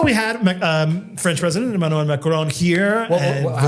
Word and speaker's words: Emmanuel Macron: So, we had um French President Emanuel Macarron here and how do you pronounce it? Emanuel Macron.